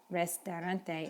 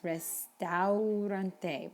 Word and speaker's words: restaurante: It's not restaurante, it's restaurante. Remember, we pronounce each vowel sound.